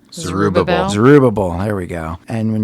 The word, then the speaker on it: Zerubbabel: Zerubbabel, there we go.